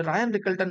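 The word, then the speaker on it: Ryan Rickelton: सर रायन रिकल्टन ये नहीं कि कोई ऐसा बड़ा छोटा नॉर्मल साउंड ले रायन रिकल्टटन बोलना है।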